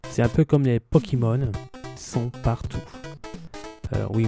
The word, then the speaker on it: Pokémon: C'est un peu comme les Pokémon, ils sont partout. Oui, moi je prononce Pokémon, alors qu'en français, éventuellement, c'est Pokémon. Mais je préfère Pokémon.